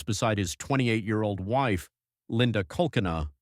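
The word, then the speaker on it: Kolkena: Daniel Broderick, a successful medical malpractice attorney, lies beside his 28-year-old wife, Linda Cochran, pronounced Colcanu.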